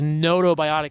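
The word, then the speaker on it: gnotobiotic: 12 species into these notobiotic mice right that's spelled gnoto and it means that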